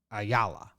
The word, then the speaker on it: Ayala: a allah i yeah la is how it that says you pronounce it on baseball-reference a yalla lewis a yalla from